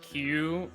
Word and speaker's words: queue: You know, even though it's called Q, even though it's spelled Q, Q-U-E-U-E, it could just be spelled with the Whoops.